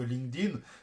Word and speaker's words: LinkedIn: sur la pronon de Linkedin dites bien LinkedIn et et et jamais avec une prononciation ed à la fin de Link ça se prononce pas